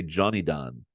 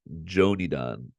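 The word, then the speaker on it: Jonidan: I used to say Johnny Don, but I think it's Joni Don. Jo is like Ichino Jo, and then Ni in Japanese is pronounced ni, like your knee. So Joni Don.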